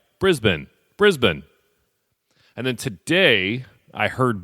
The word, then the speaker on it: Brisbane: So recently I was talking about Toughest Mudder Australia, and I referred to the city near the venue as Brisbane. I had 2 people correct me that it's actually pronounced Brisbane. So I apologized last episode and got it right.